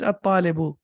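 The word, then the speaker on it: الطالب: We don't have tashdid over here, but you know that we have to pronounce it at-talibu.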